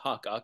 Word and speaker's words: Hakak: Once again, my given name is pronounced Hakak, which means evergreen.